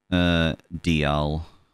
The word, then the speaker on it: Dialga: Dialga and Dialga? Dialga.